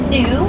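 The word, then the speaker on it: gnu: it's pretty crazy and another name for a wildebeest is a new if you've ever heard that word before they spell g-n-u they get it from the low grunting sound that they make that sounds like the word new now we're off to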